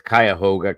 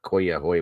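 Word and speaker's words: Cuyahoga: when they do that it's kayoga County Corner not kah ho whatever the hell he said anyway just so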